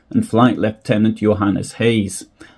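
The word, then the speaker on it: Gouws: flight leftenant Johan as Hayes I believe that Hayes is the correct pronunciation I don't speak Africans but Hayes is actually spelled g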